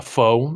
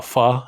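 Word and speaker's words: pho: ramen or a little a foe a fa i believe you're supposed to pronounce it heat you up foe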